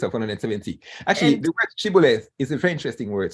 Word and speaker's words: shibboleth: But the Gileadites pronounced the word shibboleth with a sh, as in shoe, while the Ephraimites didn't have this consonant sh in the dialect. So they pronounced shibboleth with an S, as in su, siboleth.